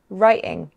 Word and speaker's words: writing: But we can also pronounce the letter T as a glottal stop, in many accents. Some people do this in between vowel sounds like in city, sɪʔɪ, and writing, raɪʔɪŋ.